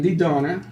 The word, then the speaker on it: Didona: Susan Didona. Which rhymes with Sedona.